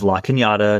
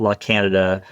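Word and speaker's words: La Cañada: Um, within a couple hours, they realized, uh, that I was actually from the area, that I could pronounce communities correctly, that it was La Kinyatta, not La Canada, a lot of different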